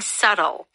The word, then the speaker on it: subtle: The word subtle is spelled s u b t l e. So you can't hear the b sound.